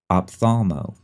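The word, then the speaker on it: ophthalmo: spell the word part optho okay I hope you remembered the tricky silent h it's o p h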